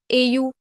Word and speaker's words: au: A plus le becomes au. It is pronounced as O.